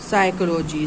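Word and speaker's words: psychology: साइकोलॉजी साइकोलॉजी माने मनोविज्ञान। तो यहां पर भी पी से स्टार्ट है। पी यहां पर साइलेंट है।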